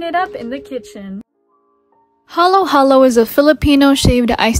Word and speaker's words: halo-halo: all over the world its original tagalog pronunciation halo halo translates to mix mix because you're supposed